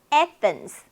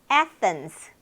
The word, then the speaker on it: Athens: Athens, Athens. 참 괴리가 심해요, 요 단어는. 어딜까요? 아테네. 그죠? 아테네. 그런데 Athens입니다.